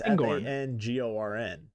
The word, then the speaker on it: Fangorn: So you pronounce this Fangorn? I've always thought it was Fangorn. I'm looking at a map. I don't know. Fangorn? The G is in the middle. It's Fangorn. Fangorn. Fangorn. Fanghorn? Yeah, Fangorn.